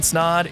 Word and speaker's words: Snod: My name is Ryan Snod. It rhymes with the odd and you're listening to